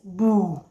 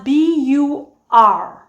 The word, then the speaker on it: bur: But the R most actually tend to omit the R at the end of a word. So instead of saying bur, I actually would say boo. Boo. They omit the R.